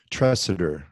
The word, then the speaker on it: Tresidder: so how do you say your last name trusted her okay I have a southern southern focus on pronunciation so I want to make sure got